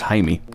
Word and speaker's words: Jaime: I thought his name was Jamie, but apparently it's pronounced Jaime.